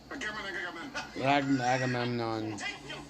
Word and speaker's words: Agamemnon: Agamemnon.